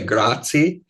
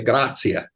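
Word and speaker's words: grazie: thing when people say grati that's wrong because they're not pronouncing the e at the end you say graia right yeah and so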